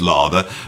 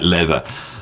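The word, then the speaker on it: Läther: I know it's looks like it's pronounced lava, but it's got them two dots over it, which I think makes it sound like leather.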